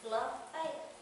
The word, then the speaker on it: LaFayette: And, I just think it's real important that people know that the F is capitalized because that helps with the pronunciation. Lafayette.